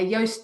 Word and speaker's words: Yoast: going on okay yeah yoast does rhyme with toast and i always say it's toast with a y um so yeah that's